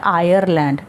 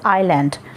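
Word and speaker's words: Ireland: Please remember इस word की pronunciation में हमने आर वर्ड नहीं बोलना. इट इज़ नॉट आयरलैंड, इट इज़ आइलैंड.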